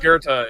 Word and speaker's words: Goethe: that is pronounced Goethe in the original German.